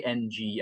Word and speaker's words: Ng: How do you say NG as a last name?